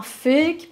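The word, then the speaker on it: PHEIC: possibilité de déclarer un fake parce c'est quand même comme ça qu' l'appelle c'est enfin je veux dire je trou ça extraordinaire en anglais P h e i ça se prononce fake donc c'est public health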